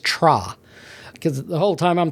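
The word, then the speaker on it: TRHA: And uh I asked them how you pronounce this band's name. It's T R HA. And they said they think it's just Tra cuz the whole time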